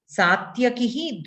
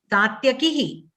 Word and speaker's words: सात्यकिः: Satyakihi. It is short ikara, right? Short ikara is given. You pronounced it as long ikara.